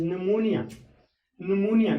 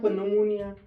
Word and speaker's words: pneumonia: इसी तरह से यहाँ पर पी साइलेंट पी की प्रोनाउंसिएशन करने की हम कोशिश करेंगे. इट इज निमोनिया, नॉट पर निमोनिया.